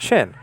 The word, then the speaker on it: shin: Hebrews, thousands of Hebrews, pronounce this not sheen but shin, and Mr.